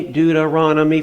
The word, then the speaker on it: Deuteronomy: that's a weird word, Numbers, Deuteronomy, Deuteronomy, five syllables.